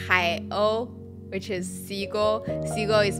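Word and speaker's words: 海鸥: The name of the camera is pronounced Hai-O, which is Seagull.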